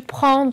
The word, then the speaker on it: prends: va donner tu prends avec le s à la fin et bien sûr fait attention il ne se prononcent pas je ne dis pas je tu prends tu d'accord elle avec le verbe